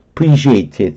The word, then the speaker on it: appreciate: 그 가치 내가 인정하고 정말 그런 의미에서 감사하다는 것이 appreciate의 뜻이에요. appreciate. 어는 발음 안 해도 되고요. 강세도 없고요. 여기 강세가 있으니까요. 요 발음 안 해도 괜찮아요. appreciate 이렇게 하면 돼요. 나중에 듣게 해보면 다 appreciate로 들릴걸요.